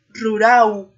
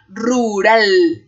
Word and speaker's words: rural: uva y algunos estudiantes que hablan portugués podrán decir como rural pero no por favor el español es rural rural no importa que estén exagerando mucho la gesticulación los movimientos de la boca para pronunciarlo lo importante aquí es que nos demos cuenta que si somos capaces de producir estos sonidos rural rural en la primera r la lengua vibra en él ru ru en la